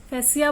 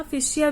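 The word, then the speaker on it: fascia: फिर बाद में हम बात करेंगे नोड की, फिशिया या फैसिया। फैसिया बोलते हैं इसको, फैसिया, फिशिया भी बोल सकते हो, जैसा आपको प्रोनाउंसिएशन इजी लगे।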